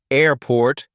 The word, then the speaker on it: airport: combining two words like airport Blackboard or lighthouse in compound nouns the stress typically falls on the first part of the word for example in airport the stress is on air not port in Blackboard the stress